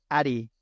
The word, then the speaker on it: Adey: It's Voice of Wind Addy. I think that's how you say it, ADEY.